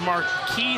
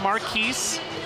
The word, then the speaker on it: Marquis: It's Marquis, not Marquise.